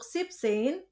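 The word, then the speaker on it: siebzehn: funksin sipin aksin eh hati-hati untuk sexin 16 s-nya dihilangkan dan untuk sipsein en-nya hilang ya jadi zein sipin pun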